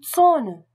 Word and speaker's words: Zone: La prononciation de Z est TZ. Z, TZ. Le Z allemand et le TZ se prononcent de façon identique et correspondent à une attaque dure. Ts, TS. Ts. Comme la mouche TZ. Die Zone, la zone.